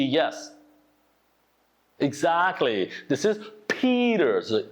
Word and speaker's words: Peter: So you pronounce it like a soft D sound. So it sounds like a Peter, okay?